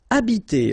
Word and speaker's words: habiter: Okay, remember that in French, the H, like that here, is not pronounced at all. Okay, so you don't pronounce it, so you get the first sound is the vowel A here.